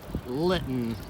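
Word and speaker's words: Lytton: rolling in the lighting litten oh yeah rhymes with mitten and smitten kitten and of course bitten you going off right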